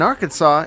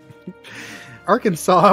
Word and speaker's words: Arkansas: is featuring arkansas in arkansas it's a felony to mispronounce the state name so remember it rhymes with santa claus arkansas was first discovered when